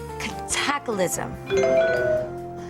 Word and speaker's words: cataclysm: Cataclysm. Cataclysm. The word is pronounced cataclysm.